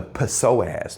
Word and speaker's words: psoas: and that's called the psoas. No, I'm just kidding, the P is silent. Psoas.